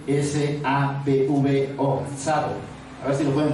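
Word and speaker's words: Tsavo: Sabo, que se llama, es con T, S-A-B-V-O, Sabo. A ver si lo pueden pronunciar, Sabo.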